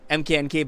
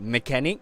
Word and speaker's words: MKNK: So yeah, so that does that mean that your name and MKNK is not pronounced as MKNK but mechanic?